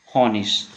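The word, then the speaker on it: Honig: और अगला कॉम्बिनेशन है हमारे पास आई जी। इसको क्या पढ़ेंगे हम लोग इस। तो ये क्या बन जाएगा हमारे पास, यहाँ पे देखिए क्योनिस और ये हॉनिश।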